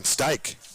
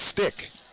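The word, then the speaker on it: Stych: No, it's Stick. It's Stick. Tough one. S-T-Y-C-H. I wrote it down, and you just want to double-check your notes. It's Stick, but it is spelled S-T-Y-C-H. You can see how it could go the other way.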